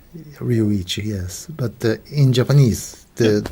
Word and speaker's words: Ryuichi: itchy but you know in Japanese there's no difference between L and R so it's almost Luigi but Sakamoto is easy